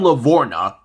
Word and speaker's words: LaVorgna: adam lavorgna's last name doesn't have a silent g you silent g man he does okay for those who have never heard of him adam levorna born in new haven